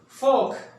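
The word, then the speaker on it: folk: फोक, लोगों को कहा जाता है यानी पीपल, फोक। यहां पे साइलेंट क्या होगा? एल साइलेंट है।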